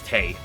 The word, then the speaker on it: Touhou: community much at all, I used to say Tui. In fact, I got some friends of mine, one friend of mine, into Touhou through Mrs. Izakaya, and they pronounced it like that. And I had to tell her it's Tay.